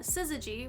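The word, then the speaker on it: SYZYGY: compliant uh interface uh siy which I think is the right way to pronounce that acronym It's s y zygy it's a high-speed IO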